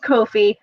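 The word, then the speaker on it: Ko-fi: or coffee or coffee the website says that they want to be pronounced kofi but the entire premise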